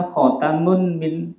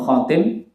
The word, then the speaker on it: khatam: ucapan seperti ucapan mereka khatamun fidtin kun ali-ali atau cincin min fiddotin dari perak khatamun min fiddotin itu bacanya khatam khatam cincin kalau khatim apa khatim penutup akhiran itu kalau khatim hnul khatimah